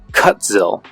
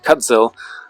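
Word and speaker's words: Kutzil: make an effort here this is cut zil that's how you say it cut zil malament Exemplar it is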